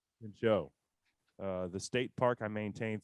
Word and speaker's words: Pinchot: Do you know how to pronounce this guy's name? Pin show. Pinchot.